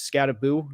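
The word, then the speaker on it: Skattebo: They wanted me to help you pronounce the running back and the Giants name. It is Scataboo.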